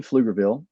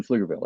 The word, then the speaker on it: Pflugerville: we called it of course we live in Pflugerville which is spelled p-f-l-u-g-e-r Bill okay it's a German word